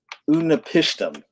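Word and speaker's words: Utnapishtim: It's Unapishtim. I had to spell it out so I get it right.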